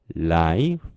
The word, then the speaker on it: life: 자, 항상 강조를 하지만 단어 끝에 있는 E는 발음하지 않는 거예요. F만 발음해 주시면 되는 거죠.